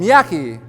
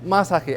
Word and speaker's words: Masaki: for Mishi uh am Miyaki masago is it you it's masaki actually I think to myself after I correct the pronunciation of my name where do they get